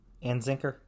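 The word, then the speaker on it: Anzicker: by ryan and zucker i think it's pronounced how's it spelled a-n-z-i-c-k-e-r and zinker yeah that yeah i think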